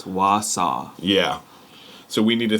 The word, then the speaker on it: Wausau: south arse pronunciation yeah it's not wasu it's Wausau yeah so we need